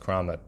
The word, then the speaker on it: Keramat: or in the CaroMont or the kramat it's pronounced kramat Crom in the neighborhood